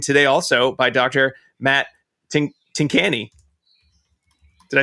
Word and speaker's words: Tincani: Matt Tincani.